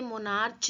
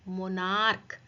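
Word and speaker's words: monarch: मोनार्क, इसे मोनार्च नहीं बोलेंगे, क्या बोलेंगे, मोनार्क।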